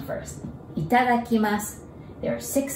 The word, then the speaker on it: Itadakimasu: Itadakimasu. There are six sounds, six Japanese characters. It sounds long, but it's actually easy to memorize. So let's break it down. Ita. It is like a country, Italy's Ita.